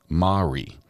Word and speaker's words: Mari: um but she says my name is pronounced ma with emphasis on the a like ba re Mari it's Gaelic for Mary just Mari from Scotland